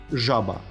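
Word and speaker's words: żaba: И следующая буква «з» уже с крапкой сверху читается как «ж». Уже не мягкая, видите. Получается «жаба». «Жаба».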